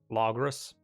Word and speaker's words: Logrus: Which I know is not how you're supposed to pronounce it. I think it's supposed to be just Logrus.